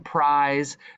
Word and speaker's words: prize: words like this one prize that has that silent e you can't hear that e but it gives the i the power to say its name so it's a code